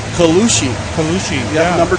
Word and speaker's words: Colucci: How do you pronounce Ella's last name? Colucci.